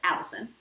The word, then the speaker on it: allicin: is called allicin and it sounds like my name but it's spelled different it's a-l-l-i-c-i-n so allison so that is released